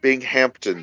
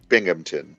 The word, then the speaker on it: Binghamton: alex real quick um it's not being hampton new york it's binghamton that's how you pronounce that binghamton yeah yes oh this